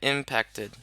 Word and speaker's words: impacted: Focus on the second syllable, right?